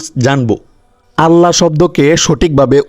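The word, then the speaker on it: الله: এই জবর থাকার কারণে এই আল্লাহ শব্দকে কি করে উচ্চারণ করতে হবে মোটা করে উচ্চারণ করতে হবে এখানে যদি আপনি কুলহু আল্লাহ পড়েন তাহলে ভুল হবে।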